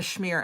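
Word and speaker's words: schmear: You never heard of a Shmear until Miss Congeniality. Yeah, a Shmear. A Shmear. You know, and it's spelled S-C-H-M-E-A-R.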